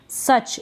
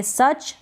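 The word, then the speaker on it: such: सच, इसको पढ़ेंगे सच, सुच ना पढ़ें, सच का मतलब इतना, ऐसा या वैसा।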